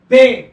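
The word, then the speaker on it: ب: पर देख रहे हैं इसको कहा जाता है बे इसको प्रोनाउंस किया जाता है बे और यह जो है हिंदी के ब के लिए प्रयोग किया जाता है तो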